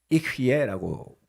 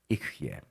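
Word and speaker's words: אֶהְיֶה: 여기에 나는 곧 나다라고 하는 그 나는이라고 하는 단어가 히브리어는 이흐예라고 부릅니다. 이흐예. 그러니까 그 발음이 우리 한국말로는 여호와라고 썼지만 이것을 유대인들은 히브리어로 아도나이 주님이라고 읽는다고 말씀드렸습니다.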